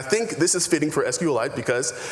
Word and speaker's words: SQLite: Richard Hip, its creator, says it's pronounced sqlit, like a mineral.